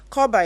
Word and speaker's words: Korba: Koba is spelled KORBA.